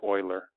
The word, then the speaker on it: Euler: you write his name doesn't look like you pronounce it Euler but it is and he basically discovered that